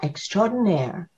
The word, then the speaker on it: extraordinaire: It's made up of extra and then ordinaire.